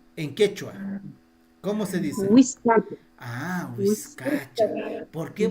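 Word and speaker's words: wiskacha: Huizcacha. Huizcacha. ¿Por qué? Porque el sonido original es huizcacha. Huizcacha. No, huizcacha. Pero castellanizado ya es bizcacha. Es huizcacha.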